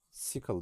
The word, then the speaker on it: cycle: Mekanik enerjidaki alternatif akım bileşenleri cycle sickle diye okunur.